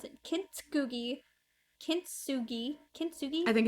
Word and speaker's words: kintsugi: So kintsugi, I don't know how to pronounce it. Kintsugi.